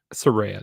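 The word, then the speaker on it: Saraya: up against Soraya or Sariah Soraya that's how you say her name or page so you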